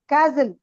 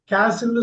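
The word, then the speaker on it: castle: ஜிய தூக்கிடுங்க பிரச்சாரம் கேசல் very good கேசல்னு சொன்னா American American வந்து கேசல்பாங்க பிரிட்டிஷ் காரங்க காசல்பாங்க பாத்துக்கங்க காசில் இந்த வீடியோ நீங்க ரன்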